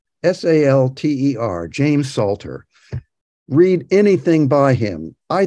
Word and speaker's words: James Salter: It's James Salter, S-A-L-T-E-R, James Salter.